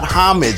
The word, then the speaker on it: homage: pay a proper homage the word is oh homage stop it you sound like a damn fool when you say it wrong all right then tell